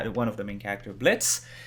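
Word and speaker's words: Blitzø: He was in a failed robbery that sent him to prison, where he met one of the main character, Blitz, and the O is silent, and that's how they became part of this company that just kills people.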